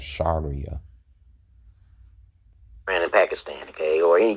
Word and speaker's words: Sharia: So he doesn't know how to pronounce it. It's called Sharia.